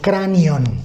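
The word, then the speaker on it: κρανίον: La palabra Calvario proviene de una palabra griega que se pronuncia como cranion, de donde ha derivado en el castellano, ¿qué cosa?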